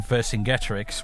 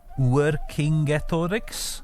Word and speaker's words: Vercingetorix: So, by the same token, the great Gallic king Vercingetorix would actually have pronounced his name Uercingetorix, I think, because again, it's not a hard, like in Latin, it was a hard C and not a soft C.